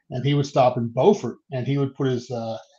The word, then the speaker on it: Beaufort: It's not Beaufort, although it's spelled the same. It is Beaufort, North Carolina.